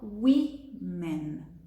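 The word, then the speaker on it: women: que o começo da palavra modifique a sua pronúncia também tá bom então singular uma e plural wee-man e aí como empresário e empresária leva as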